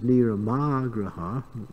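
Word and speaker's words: niyamāgraha: And there's another term, which is niramagraha, with the emphasis on a different syllable, which means rejecting rules and regulations and acting whimsically and independently.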